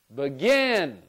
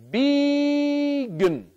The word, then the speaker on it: begin: For example, I could try here, begin, and in that unstressed syllable, remember, I might even change B to B. And then here, with the second syllable, I'm going to say that one louder, longer, and higher. So, begin. Let's try it the other way. And we'll say begin.